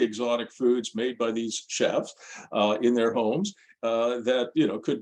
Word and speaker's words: Shef: app on the weekend called Chef, but it's spelled SHEF because most of the chefs in this particular app are women, so they call them she chefs, so chef for short.